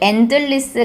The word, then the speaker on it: endless: 분이 그 댓글로 남기시기를 endless 같은 경우에는 어떠한 법칙에 의해서 D 발음을 하지 않는 식으로 설명을 해줬으면 더 좋았을 것 같다라고 말씀을 하신 분이 있어요. 근데 이게 제가 지적을 하면은 싸움이 날 것 같아가지고 안 했는데 endless에서요 D 발음 안 하면 안 돼요.